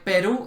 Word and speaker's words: Perú: Para los eslovacos es muy difícil entender que Simón Bolívar es Simón Bolívar y no Simón Bolívar. Que Perú es Perú, no Perú. ¿Sí?